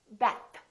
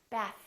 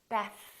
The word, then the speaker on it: bath: Don't say bath. Say bath, bath. Make sure that the tongue lightly touch it, and make sure that there's a light vibration.